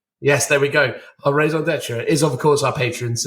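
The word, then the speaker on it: raison d'être: the fancy version of, but I forgot the pronunciation of it. Is it raison d'etre? Yes, there we go. Our raison d'etre is, of course, our patrons.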